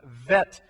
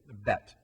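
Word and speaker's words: ב: technically that's actually pronounced vet or vit uh because it has no dot in the middle if there was a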